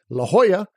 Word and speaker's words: La Jolla: two rules of pronunciation La Jolla the J makes the H sound and the Double L makes the Y sound the burrito rule of